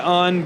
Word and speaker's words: Un: Which way do you pronounce it? We pronounce it UN, but we're not particularly picky about it.